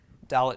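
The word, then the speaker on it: dalet: third letter gimble fourth letter is dull it dalit makes the sound of the letter D as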